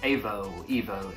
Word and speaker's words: Aevo: So the first massage gun is this one here by Evo. It's spelled A-E-V-O.